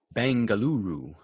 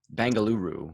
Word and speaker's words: Bengaluru: a must as well bengaluru bengaluru is bangalore just how they say it locally oh yeah we had